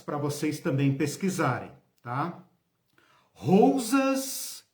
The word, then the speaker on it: Rousas: Rousas, rosa com U no meio.